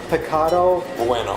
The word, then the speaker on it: Pecado Bueno: so we're here uh and how do you pronounce it picado picado bueno pueno and bueno means good yeah and and